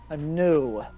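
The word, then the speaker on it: Nue: Yes, I'm new. My name is actually New, but it's spelled N-U-E.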